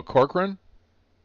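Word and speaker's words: Corcoran: Before I uh butcher the name, is it Corora Chloran or is that different? Is it different? Oh, Corkran. Corkran. Okay.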